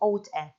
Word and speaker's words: ought to: And you don't have to separate in producing or in pronunciation between ought and to. So instead of saying, you ought to find a job, you can say, you ought to find a job. Oughta. Notice oughta.